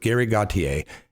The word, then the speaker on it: Gauthier: show next Sunday with Gary Gauthier, and I'm pretty sure that's the correct way to pronounce the gentleman's name.